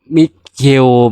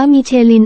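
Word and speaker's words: Michelin: ๆ ใช่ มั้ ครับ มิ เชล ไม่ ใช่ เหรอะ มิ ี ไป ๆ ๆ ๆ ๆ ไม่ โง่ 2 ตัว พวก มึง อ่าน ไร ของ พวก มึง มัน อ่าน ว่า มีิ เชิน ไอ้ ควาย ผม เติม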